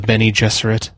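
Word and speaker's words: Bene Gesserit: be concubines and they're called the Benny jesset Okay and like if you see it written down you have no idea that's how it's pronounced and like there's like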